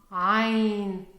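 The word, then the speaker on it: عين: And this is the second bonus today that I'm going to teach you how to pronounce properly the Arabic letter ah. Ain.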